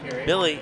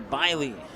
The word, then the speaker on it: Biley: Hunter Billy, that's not how you pronounce it, but he had the ball. 7 on the stop. Second down and 16 as the ball's on the 42. Hunter Biley. I had to think about it for a moment there, but that's how you say it.